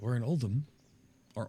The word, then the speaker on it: Uldum: All right, we're in Uldum. Or Uldum, how it's pronounced.